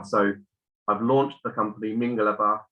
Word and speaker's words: Mingalaba: So I've launched the company Mingalaba, emphasis on the first syllable, and it's basically just a greeting in Burmese.